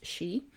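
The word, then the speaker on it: sidhe: is one of the she s-i-d-h-e pronounced she um and the she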